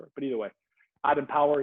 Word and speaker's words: EMPWR: At Empower, it's spelled EMPWR, EMPWR, as you can kind of see here.